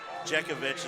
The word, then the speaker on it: Jezeovich: Jezeovich is how they say it, so that's how we're going to start saying it.